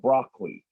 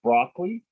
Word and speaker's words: broccoli: couple units back about broccoli. And that there are two ways to pronounce it. You can put it broccoli or broccoli.